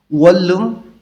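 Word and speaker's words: 원룸: ছাত্রাবাস ম্যাচ বা হোস্টেল ওয়ালুম অর্থাৎ এটা হচ্ছে এক রুম এক কক্ষ বিশিষ্ট ঘর নিউন বাচ্চিমের উপরে রিউল আছে এখানে দুইটাই ল উচ্চারণ হবে ওয়ালুম ওয়ালুম মানে হচ্ছে ওয়ান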